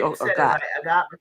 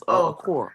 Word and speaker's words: Okor: We always say Okot. Okor. Right now, it's about Medina's last name. It's Okor.